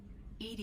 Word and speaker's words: EDI: a jar why are you named Ed Ed is the phonetic pronunciation of Eed that is an acronym for